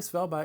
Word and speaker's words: Svalbard: Apparently Svalbard is the right way to pronounce this, as I have since learned, and being here in Norway does help me with that.